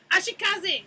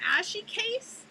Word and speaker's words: Ashikaze: pronunciation, because I'm like, are you an ashy case? That doesn't sound right.